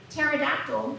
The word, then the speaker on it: pterodactyl: because as everyone knows i say pterodactyl has a silent p wait hiding there behind